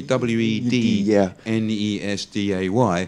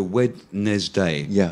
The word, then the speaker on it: Wednesday: all the would be w e d n e s d a y so wedes day if you were really pronouncing it phonetically you know wedes day but it's actually you forget the D yeah completely yeah Wednesday